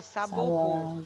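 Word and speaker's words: Sabouraud: Se escreve Isso. saboround, né? Mas se pronuncia saborro.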